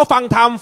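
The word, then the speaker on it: ฟังธรรม: ด้วย กัน นะ ครับ อ่าน ว่า อะไร ครับ ฟัง ธรรม ปกติ คำ ว่า ฟัง ทำ ฟัง เขียน ไง ฮะ ฟอ ฟอ ไม่ หา อากาศ ง งู ธ ร หัน ม แต่ ผม รู้ สึก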